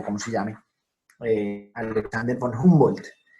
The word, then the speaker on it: Humboldt: se llame, Alexander von Humboldt. En alemán la H suena como la J nuestra, Humboldt.